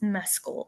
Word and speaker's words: Mescal: very respectful way and it's it's Mescal you're the pronunciation Queen